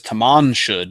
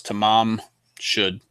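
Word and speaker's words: Tamam Shud: um newspapers misprinted it as Taman should but it's tamam should um and what that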